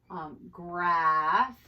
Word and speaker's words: graph: So when you put a P and an H together, it makes an F sound, okay? And some words that have the PH are phone, right? Phone, graph, okay, graph, it's at the end of that.